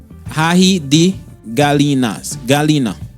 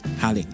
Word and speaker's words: ají de gallina: Or the G is not pronounced like that, but I can't do it. Halin.